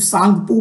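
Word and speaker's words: Tsangpo: किसान पूर्व बोलते हैं आपको इसको पी साइलेंट करके सिर्फ सॉन्ग तू बोल देता है ठीक है अब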